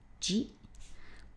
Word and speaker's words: 自: Of course it's pronounced ji.